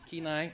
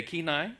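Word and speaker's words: Kenai: Kai Pennsylvania and Alaska did I say it right ke keenai okay keenai right she's corrected me already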